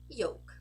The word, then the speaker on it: yolk: words with L naturally so if you have an O and an L followed by a k you can definitely pronounce just like you would pronounce it in Portuguese so you get folk